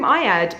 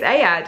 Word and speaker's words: Ayad: I've always called him Ayad, but apparently it's Ayad and I've been saying it wrong for a very long time.